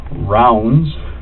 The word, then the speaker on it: Ravnsborg: R A V N S B O R G. Okay. But it's pronounced Rounds, like a round circle, okay? Berg, like an iceberg.